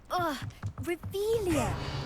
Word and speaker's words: Revelio: You're Revelius. saying it wrong. Revelia.